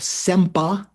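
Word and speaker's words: सेम्स् पा: In Tibetan, it's called sempa, SEMSPA, sempa.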